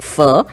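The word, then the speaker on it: phở: Of course, it's spelled 410, but it is pronounced fur.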